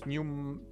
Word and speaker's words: pneumonectomy: We call it pneumectomy. Pneumectomy. Is that correct, Jada? Please correct my pronunciation. Pneumonia. Pneumonia is the inflammation of the lungs. So it's pneumonectomy. It's gonna be pneumonectomy.